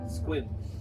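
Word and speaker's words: Sequim: Swim is how Google pronounces it. Quim. Squim.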